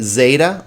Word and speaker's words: zeta: Now, zeta can sound like Z, zeta, or some people put a DZ sound. I kind of like that myself, so z, z, z, z. It's very subtle, zebra or zebra, but zeta or zeta.